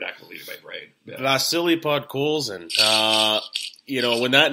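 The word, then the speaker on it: Vasily Podkolzin: The actual pronunciation was Vasili Podkolzin.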